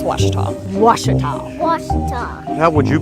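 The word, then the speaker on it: Ouachita: searching for Baptist University back in Texas everybody pronounces it Witchita but really it's was was was how would you pronounce it was it's was Baptist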